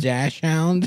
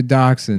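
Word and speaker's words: dachshund: Can I get a sample of uh that dash hound?" Yeah. You know, it's Costco rules here. Yeah. That dash hound. Is that what they're called? Yeah. Do they're dachshun. There's nothing called a dash hound.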